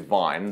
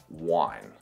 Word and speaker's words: wine: vine and the wine, because in all the Scandinavian languages, wine is vin, so and vin sounds more similar to vine than it does to wine, and that's pretty much